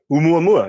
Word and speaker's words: Oumuamua: way, for example, that you'll have to correct me if I pronounce this wrong, Adam. I think you should know Oumuamua, this object. That's right. Oumuamua is the way I have heard it pronounced.